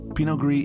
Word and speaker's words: pinot gris: it is also called pinot gris here's your fanatical spelling for pinot gris notice that the s is silent pinot gris is a dry wine